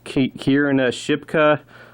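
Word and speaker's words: Kiernan Shipka: The main character is played by, I think you pronounce her name is Kierna Shipka.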